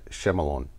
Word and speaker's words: Shyamalan: Night Shyamalan.